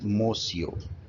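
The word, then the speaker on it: monsieur: lot scolded reprimanded mosio this word would be pronounced as mosio an expression of respect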